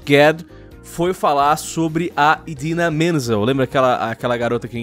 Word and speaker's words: Idina Menzel: Porque ele foi lá e falou que eles iam falar agora sobre uma canção da Idina Menzel. E, por sinal, essa é a maneira correta que se pronuncia o nome dela.